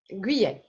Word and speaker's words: Guyet: Pronounce your last name. Guyet. Guyet.